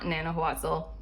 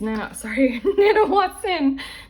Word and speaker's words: Nanahuatzin: They chose a god, and they chose this one who is not Nanahuatzin. Is it Nanahuatzin? It's Nanahuatzin. This one, I don't know how to pronounce his name, but I'm just gonna say this guy.